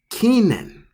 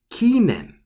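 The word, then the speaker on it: 記念: So for this one, you pronounce this as kinen. Kinen for number 10. Kinen.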